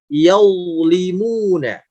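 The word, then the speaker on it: يظلمون: Yaulimuna. Bukan yal, sambil dilihat juga cara bacanya, bukan yal, tapi sedikit naik pangkal suaranya yaulimuna.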